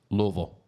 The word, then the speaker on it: Louisville: go up there and call it Louisville, you're probably going to Oh, get your ass yeah, kicked. yeah. They'll get real mad at you. The proper way to The proper way to say it is. Louisville.